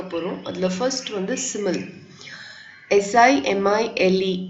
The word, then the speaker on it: simile: SIMILE is pronounced as simile.